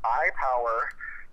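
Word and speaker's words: iPowear: It's an iPower. So there's two brands under the HiTechNinja name. So there's HiTechNinja, and then there's iPower, and it's spelled I-P-O-W-E-A-R because our motto is "Wear Your Power."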